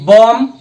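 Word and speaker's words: bomb: বি একে লগে থাকিলে কি হয় এই বি উচ্চারণ হয় জেনে বি ও এম বি বম সি ও এম বি কম ইয়া বি উচ্চারণ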